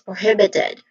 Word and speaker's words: prohibited: So this is prohibited. The the second syllable is the stress syllable here which is the hib. So this is prohibited.